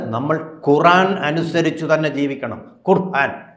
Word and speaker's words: ഖുർആൻ: ഖുർആൻ അനുസരിച്ച് തന്നെ ജീവിക്കണം ഖുർആൻ എന്നാണ് അതിന്റെ ശരിയായ ഉച്ചാരണം ഖുർആൻ അനുസരിച്ച് തന്നെ നമ്മൾ